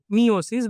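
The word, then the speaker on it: meiosis: एक होता है माइटोसिस और एक होता है मियोसिस व मायोसिस जो तुम लोग बोल। ठीक है? दोनों ही करेक्ट है प्रोनाउंसिएशन।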